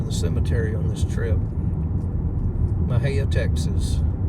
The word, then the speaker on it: Mexia: M-E-X-I-E is how it's spelled, so don't ask me how they got that name Mexia from that, but it's one of those odd Texas names that no one can pronounce unless you're from Texas.